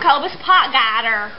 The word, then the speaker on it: Cobus Potgieter: Look, I'm Cobus Potgieter. I also realized how insanely hard it is for you guys to pronounce my name.